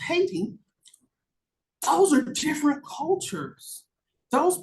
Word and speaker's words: Hayti: and Black students from Hayti, Missouri, which for the rest of the world is pronounced Haiti.